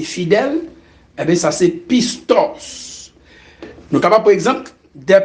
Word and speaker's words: pistos: La fidélité, ce mot vient du grec pistos. Le mot fidélité vient du grec pistos. Pistos qui s'écrit P-I-S-T-O-S.